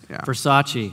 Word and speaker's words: Versace: Versace.